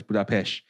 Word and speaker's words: Budapest: Now, so yes, Budapest is indeed pronounced as Budapest because in the Hungarian alphabet, the single letter S has a sh kind of pronunciation.